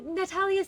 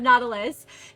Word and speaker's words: Nautilus: Oh, Natalius, thank you for the hydrate. Thank you. Or Nautilus? Nautilus. It's pronounced Nautilus.